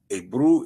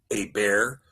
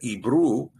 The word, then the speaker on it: Ebru: Abru is the correct way to pronounce it, not Aber or Ebro even, but Ebru, which is why Abraham